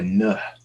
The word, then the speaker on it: Nuh: the prophet noah inshallah or nah as he is pronounced in havoc and so we all